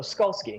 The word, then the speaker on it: Skolski: to say oh yeah it's like a a skull that skis so skull ski Okay so skolski from yellow Bri games